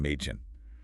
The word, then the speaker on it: Mädchen: A sounds pretty much like the short E in the English word bed or get. Okay, like A. Exactly. Think of Mädchen girl, pronounced Mädchen.